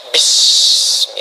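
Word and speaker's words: بِاسْمِ: Itulah sebabnya ketika walaupun di sini ada alifnya, tetap dibacanya cepat dan pendek. Iqra bismi rabbik.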